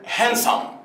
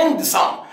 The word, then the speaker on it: handsome: الاولاد حبايبي، ولكن اقول هانسم. هانسم، خد بالك الكلمة دي فيها ايه؟ ان دي في النص، ان دي في النص، بس الدي مش بتتنطق، يعني بقول هانسم. هانسم، في ناس بتسمعها هاندسم.